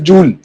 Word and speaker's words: जूल: आ जाता है तो इट्स how that scientist used to pronounce it, so used to pronounce it एज जूल, तो हम उसको जूल ही बोलेंगे। वो कुछ और, मतलब आपका नाम है, आपने डिसाइड करना है कि उसे कैसे प्रोनाउंस किया जाए, तो ही used to call it जूल।